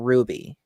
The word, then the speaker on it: RWBY: Shoot Me we're going to be talking about Ruby or RWBY if you would have said that